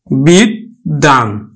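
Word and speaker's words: বিদ্বান: ব্যঞ্জনটি দুইবার উচ্চারিত হবে আমরা উচ্চারণ করব কিন্তু বিদ্যান বিদ্যান তার মানে দ টা দুইবার উচ্চারিত হলো বিশ্বাস বিশ্বাস আমরা দেখো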